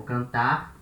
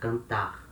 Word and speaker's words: cantar: Some people put a little air at the end of the word, cantar, cantar, to mark this sound of R. It's not wrong. You can say like that, cantar.